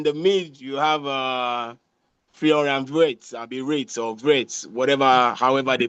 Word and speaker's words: Wirtz: Then in the mid you have Florian Wirtz, Wirtz, whatever, however they pronounce that it's dude's name. Vitz. They call it with V.